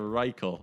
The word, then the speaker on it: Reichel: I don't want to get rid of Reichel.